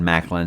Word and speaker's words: McLean: When I talked to John Gwynn, he recommended this series to me a lot, and he said Macklin. So I've always just kind of said Macklin, but I've heard people say it's kind of like how you would say John McClane from Die Hard.